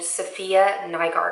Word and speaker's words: Safiya Nygaard: But she's a fabulous YouTuber named Safiya Nygaard, I think is how you pronounce her name.